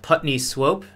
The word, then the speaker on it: Putney Swope: show a movie and the movie was called Putney Swope you've seen it very PU T and ey